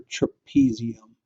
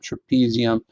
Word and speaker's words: trapezium: is known as your trapezium okay touches your thumb rhymes with them trapezium but if you can